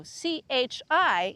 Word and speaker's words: chi: the alphabet, because we learned that C followed by I makes a ch sound. However, if we wanted to make a k sound, we put an H there. So parking. That's how you would spell it in Italian if you didn't use a K. Parking. So C-H-I is chi.